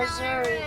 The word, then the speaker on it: Missouri: I like Missouri.